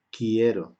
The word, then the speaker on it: quiero: Esta E va a cambiar a IE, sería quiero, ¿ok? Porque la U no se pronuncia, eso lo hemos visto en la fonética.